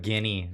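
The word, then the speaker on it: Gini: way oh so that is GI n not like Robin Williams Rubble lamp sort of thing like guinea the guinea index yeah I don't know I've always called it the genie index maybe I'm pronouncing it wrong say GIF or GIF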